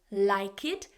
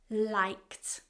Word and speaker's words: liked: If the sound before that ED spelling is voiceless, like K, then the ending changes to a T sound. So we don't say like it, we say liked.